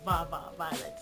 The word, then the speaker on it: Va Va Violet: I have Va Va Va Violet, not Va Va Va Va. Like I said, it's a Va Va Violet, but I always say it like that.